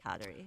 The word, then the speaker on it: Kateri: Mohawk Community it's cuddly but we usually say katari so the way I learned in a cab